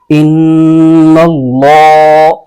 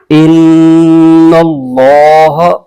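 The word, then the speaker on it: إِنَّ اللَّهَ: یا پیش آ جائے تو اللہ کے لام کو پر بھی پڑھا جاتا ہے، تو یہاں اس کو پر کر کے پڑھیں گے، ان اللہ۔ آگے آئین پر زبر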